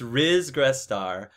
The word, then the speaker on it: Ris Grestar: talking about it makes know how to pronounce my name r is yes it's r is gress star i guess i should